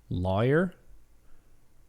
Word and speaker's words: lawyer: lawyer boy lawyer flaw lawyer rhymes with boy okay so pretty much